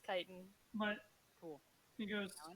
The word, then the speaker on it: chitin: it it's it's okay this is chicken Titan Titan thank you I don't know why I pronounce that I don't know that's English for you pronounce it so it's chitin what cool he goes